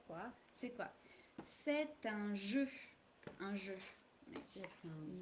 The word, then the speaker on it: jeu: What's un jeu? Alors, Comment c'est? Comment c'est un jeu? I don't know. qu'est-ce que c'est? Qu'est-ce que c'est? Un jeu. Jeu. It's exactly the same pronunciation as this one here.